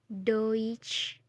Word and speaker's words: Deutsch: Selanjutnya huruf yang selalu bertemu adalah huruf E dan U. Dibaca OI. Contohnya Deutsch.